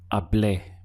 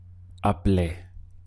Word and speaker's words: hablé: So the sound we get is hablé, hablé. Your pronunciation is very important here. To be understood, you must stress that final letter, hablé.